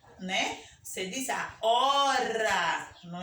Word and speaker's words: hora: Você diz a hora, não é? Hélice. Você não pronuncia o H, você pronuncia a vogal.